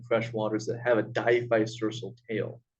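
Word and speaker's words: diphycercal: waters that have a diphysersal tail it's a very complex word but if you they die vice versa a couple of times I'm sure you'll remember it it's very complicated in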